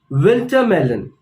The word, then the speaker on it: winter melon: Winter melon. In Hindi, we call it petha. So pronounce once more with me. Winter melon. So again, the stress is on the first part of the word.